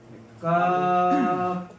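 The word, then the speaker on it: كاف: Kalau kaf dibaca apa? Kaf ya, bukan ka, tapi dibaca kaf.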